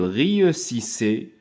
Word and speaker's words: réussissait: Donc, I, E, U. كنقراوها ي. Donc, S avec ي, زي. هنا علاش نطقنا هاد S بلا لتر Z. جات ما بين جوج ديال لي فوايل. هاد القاعدة سبق لي ديجا شرحتها مرارا وتكرارا. دونك اس ملي كتجي ما بين جوج ديال لي فوايال كتنطق زد. داكوغ.